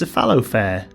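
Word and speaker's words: Cephalofair: hit board game by cephalo faire games is that how you say it it's a fallow fare yeah and is by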